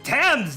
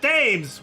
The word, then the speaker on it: Thames: so no judgments here it's tens not dames well why would anyone